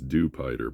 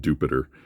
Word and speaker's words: Dewpider: It's clearly Dewpider, right? It's a dew spider, so it's Dewpider, but in the anime they call it Dupiter, rhyming with stupider.